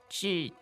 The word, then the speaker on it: 纸: So let's look at the word 纸巾. Now, the first part is... 纸, 纸. Now, that's the third tone, right?